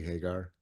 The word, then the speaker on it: Hagar: sense of grounding in the Genesis story of Hagar, who names God the God who sees. Did I say that correctly, Hagar?